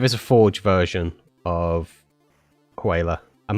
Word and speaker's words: HWYLA: The next one is it's a form of whaler, but it's called I won't try and pronounce it phonetically. I will spell it HWYLA. Whaler.